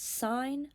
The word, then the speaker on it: sin: are three of them the first ratio um is s of theta that's how you read this sign of some anglea is